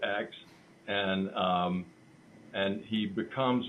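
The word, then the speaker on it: Ecks: up with what name Joe X and it's spelled e c KS so it's Joe X and um and he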